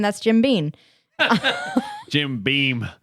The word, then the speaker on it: Beam: that's jim bean jim beam not bean did i say bean again yes it's not mr bean it's beam is my name